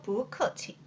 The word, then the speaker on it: 不客气: 여기에서 여러분들 체크해야 될 게 뽀는 원래 사성이지만 뒤에 사성이 연달아 나올 경우 앞에 뿌는 이성으로 바뀌면서 표기도 변화하는 발음으로 해줍니다. 그래서 不客气.